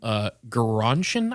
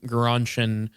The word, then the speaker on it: Gerontion: Eliot's poem, Gerontion, I think is how you pronounce it.